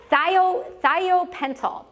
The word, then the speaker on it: thiopental: Hospira makes a drug, or used to make a drug called sodium, I've been told I say it wrong, it's thiopental, okay?